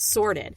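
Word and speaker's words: Sortd: it's called sorted and it's spelled s o RTD so no e in there but sorted and it's an add-on or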